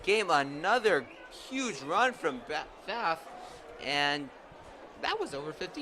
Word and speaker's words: Pfaff: It's because we've heard 2 different pronunciations. So I will defer to the student who knows him. You call him Pfaff?